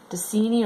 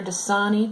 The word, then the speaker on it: Dasani: Dasani or Dasani, depending on how you want to pronounce that, we would say is the most acidic.